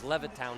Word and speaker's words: Levittown: I mispronounced it was Levittown, New York that Sami is from.